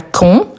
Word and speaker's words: quand: Ici, c'est important parce que vous voyez, on a quand avec un D à la fin, mais après, on a une voyelle. Pour faire la liaison, c'est-à-dire pour les prononcer ensemble, le D, il prend les sons de T.